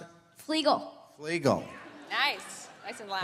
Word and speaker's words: Fluegel: How do you pronounce it? Fluegel.